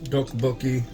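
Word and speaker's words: tteokbokki: of you interested in do bookie just remember if if you want to say it right it's considered the Double T or the Double D It's like a hard hard D or soft t d d yeah and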